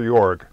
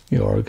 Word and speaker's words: Jörg: Is it Jörg or Jörg? It's J O two dots in the top of it, R G. Jörg. Jörg, I thought that. Yeah, I thought it was Jörg.